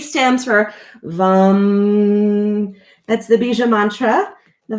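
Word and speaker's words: वं: down V, just think VAM. VAM is how you spell it, but it rhymes with hum.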